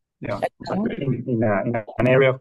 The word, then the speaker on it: Chacao: pronunciation? Yeah. Chacao.